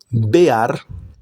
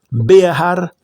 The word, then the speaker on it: Behar: Behar significa estoy aquí pronunciando la la he bear para aquellos que no están familiarizados significa montaña en la montaña. Be ar.